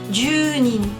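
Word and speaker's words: 十人: 10 personnes, junin, pas d'exception. Ju et nin. Junin. Attention à la prononciation, bien allongée, le U.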